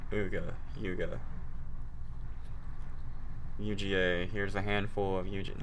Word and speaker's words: Uga: How to pronounce Uga. UGA. Here's a handful of UGA. No, come on, man. Uga.